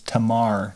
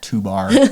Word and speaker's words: Tamar: It's like, it was Tamar, not 2-bar.